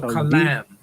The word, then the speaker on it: kalam: Kalam. Kalam. K A L A M. If you put it in the transliteration. Kalam.